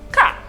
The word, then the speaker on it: K: is pronounced as ash the letter k is pronounced as ka the letter q is